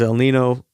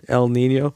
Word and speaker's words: El Niño: When I was there, the talk was El Nino. Oh, you guys got me saying it. El Niño. In Spanish, they pronounce it with a Niña over the N, El Niño.